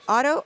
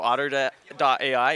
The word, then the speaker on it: Otter: hi we're here at is it pronounced uto AI otter oh like the animal otter Ai and we're here